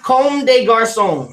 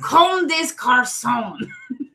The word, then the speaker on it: Comme des Garçons: And I might be saying it wrong, too, but I'm pretty sure that's how you say it, because there's no accent mark over the E, so.